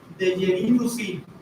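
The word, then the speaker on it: Dejerine-Roussy: Se le llama deerinuí, se escribe deerine rosí.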